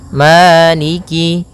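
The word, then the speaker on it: مَالِكِ: arahim ya en harakat arrahim kemudian Maliki yaumiddiniki yaumiddin pada bacaaniki di lafal Ma ada hukum tajwid berupa madii yaitu adanya fathah bertemu dengan alif panjangnya dua harakat Maliki kemudian Kaf di sini ada huruf kasrahnya maka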